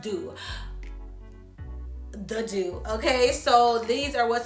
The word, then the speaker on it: The Doux: be using is the it's pronounced do the do okay so these are